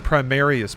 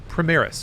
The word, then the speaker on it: Primaris: The Primarius Protocol. Is it Primaris or Primarius? Am I saying it wrong? Hold on. Essentially, it makes Space Marines even more insanely strong. Primaris.